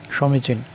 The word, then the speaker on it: সমীচীন: সঠিক উচ্চারণ হচ্ছে এরকম যে দুটো দীর্ঘই, সমীচীন।